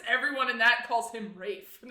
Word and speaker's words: Ralph: So they say Rafe Fiennes.